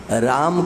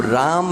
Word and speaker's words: राम: से भी राम कहना, अब राम में आपने जो माँ बोला वो तो आधा हो गया, राम है ना। अकार का उच्चारण इसमें नहीं हुआ, और अकार का उच्चारण नहीं हुआ तो ये माँ हल हो गया और आपका आधा अक्षर नहीं गिना जाएगा।